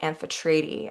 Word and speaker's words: Amphitrite: I talked to my friend who lives in Cyprus and I double checked with her and asked her is the correct pronunciation amphetrady and she said yes only she did it